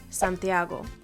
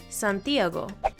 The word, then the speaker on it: Santiago: Now, there's never an accent in Santiago. I'm just kind of using this as an example, but words with accents, they need them because they tell you how to pronounce it.